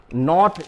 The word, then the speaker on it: knot: नॉट यानी होता है गठान, गठान, तो उसको वर्ड में होता है गठान के लिए होता है KNOT, के यहां पर साइलेंट होगा।